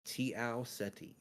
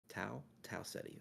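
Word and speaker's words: Tau Ceti: think it's Tiao Seti. Tiao Seti. Tau Seti. That's probably Tau. Yeah, not T.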